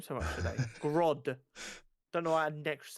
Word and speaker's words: Grodd: Grodd.